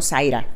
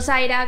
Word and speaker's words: Saira: aparte de su nombre me llamo saira pero no Zaira como normalmente se escribe que es con z e i latina Al es como Sara con s e y saira entonces como que si